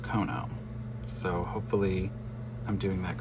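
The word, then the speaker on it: Keonho: And then the last photo card is Kono. Yes, I hope I'm pronouncing that correctly. Somebody on my last corrected me and said it's pronounced Kono.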